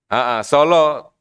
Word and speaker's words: Sala: Nah, Solo.